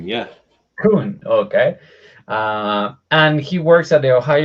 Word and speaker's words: Kuhn: So, being 8:04, I think it's time to introduce Mr. Jeff Kuhn. That is the right pronunciation. Kuhn, yeah. Kuhn, okay.